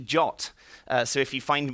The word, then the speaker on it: JWT: the RFC it's actually it says you should pronounce data BT jot so if you find